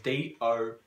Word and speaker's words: Domhnall: If people would know how that same spelled, it's Domhnall.